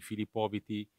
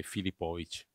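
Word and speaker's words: Filipović: stato aggiungere IT, quindi Filipoviti, invece di quella C strana. Però il suo nome reale, la sua pronuncia è Filipovic.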